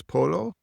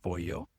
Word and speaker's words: pollo: Chicken is polo. Your pronunciation of pollo was close.